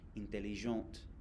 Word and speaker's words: intelligente: Six, intelligent if it's masculine, intelligente, you pronounce the T if it's feminine.